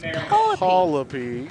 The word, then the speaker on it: Coleby: I spelled it how the name is spelled, but it's pronounced Coleby.